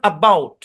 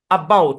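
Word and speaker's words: about: sound apply হইছে তারপরে দেখেন এই শব্দটা হচ্ছেন এবাউট আবাউট এরকম এবাউট যেহেতু এটার হচ্ছেন এই বাউট এরকমও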